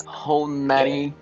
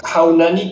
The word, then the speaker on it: Haunani: Murray was with your friend Honani Kelly. Sorry if I mispronounce it. It's Haunani Keli'i. In Hawaiian, you say you pronounce Honani it Kelly. Keli'i.